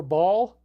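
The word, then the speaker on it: Baal: they worshiping in Carthage Bale or ball can pronounce it either way and molok and then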